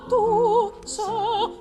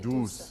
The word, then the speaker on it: douce: Because the word is right, douce. douce. Right, Douce flamme. So not douce. So that you Okay. get a little bit more accent on the first syllable Okay. than on the second.